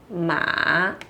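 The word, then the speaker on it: 吗: um ponto de interrogação, mas ainda assim a gente usa o ponto de interrogação, tá? Então esse aqui é como se fosse um ponto de interrogação, tá? E a sua pronúncia também é ma.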